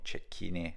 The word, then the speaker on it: Cecchine: century however I believe in American English it is pronounced differently his last name I'm not sure but um in Italian I'm sure it's ch so here you can see